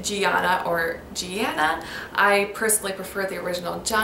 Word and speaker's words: Gianna: Gianna is an Italian short form of Giovanna, which means God's grace. It's a form of John. This name is also sometimes pronounced Gianna or Gianna.